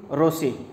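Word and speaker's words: Rousseau: Lockie और gene जैक्यू रोसी। रोसी या फिर रूसो बोल सकते हैं इसे। ठीक है, हिंदी में रूसो लिखा होता है कई बार और इंग्लिश में जो है रूसे प्रोनाउंस हो जाता है।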